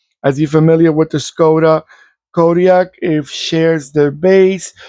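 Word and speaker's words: Škoda: It's like the sportier edition of the Skoda. Let me make sure I pronounce it correctly. They told me that it's like an SH type of pronunciation in the first part of the.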